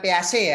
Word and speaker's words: Piaget: Kayak mobil itu loh, peso itu Piaget itu. Oh gitu ya. Jadi yang benar Piaget ya.